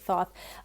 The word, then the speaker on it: Thoth: And the Thoth deck, or some people pronounce it differently, I pronounce it Thoth, by Crowley, didn't come out till later.